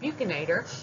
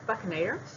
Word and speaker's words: buccinator: I usually tend to pronounce it buccinator, but it is technically, I believe, buccinator. Say it however you want.